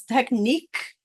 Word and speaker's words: technique: of the phonetic sounds so usually we have a CH that makes a CH sound but today it's making a k sound KN makes the same sound as it would phonetically in any other word but this one it's technique so it sounds like another K here so it's kind of